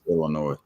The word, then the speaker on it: Illinois: the state name to see that but it's Illinois yeah damn like quit ill it's not Illinois Illinois yeah what state are you in I'm